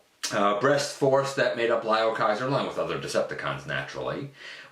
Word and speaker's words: Liokaiser: final member from the Liokaiser box set. I said that wrong. Liokaiser box set. Thank you, Input, for helping me to figure out exactly how to pronounce it. Liokaiser. Get it right, man.